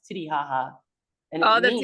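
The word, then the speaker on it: Titicaca: And Lake Titty, it's written Kaka, but like it's actually pronounced haha. It's Titty haha, and it Oh, that's means, even better.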